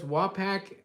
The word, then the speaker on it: Wapak: Honey Badger says Wapak, or Wapak, well, this is the way I pronounce it, Wapak. It's pronounced Wapoke? Wapoke? It's Waughpok. Wapak?